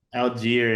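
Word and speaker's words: Allgeier: I feel like I'm saying his name wrong. Algier and Bijan. And oh, so I did say it right.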